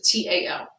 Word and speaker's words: Tao: They see you as someone who really is balanced with this, I always, how to pronounce this, T-A-O, Tao.